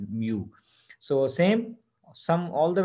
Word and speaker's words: mu: use mu this greek sign is known as mu right you can pronounce it like mu so same sum all the values divided by